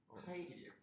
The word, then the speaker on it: Kyle: KYLE는 뭐라고 읽는 거예요? 이름이 뭐요? 카일이요.